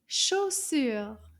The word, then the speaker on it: chaussure: Let's clap. Combien de syllabes dans le mot chaussure? Chaussure. Did you say two? You are correct. Il y a deux syllabes dans le mot chaussure. Chaussure. Deux syllabes.